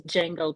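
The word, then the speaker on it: Django: I see this is D Jango 2.0 the D is silent they are silencing yep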